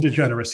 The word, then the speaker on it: DeGeneres: I noticed that an American celebrity whose name I may mispronounce. Is it Ellen DeGeneres? Bill Whalen: Ellen DeGeneres, yes.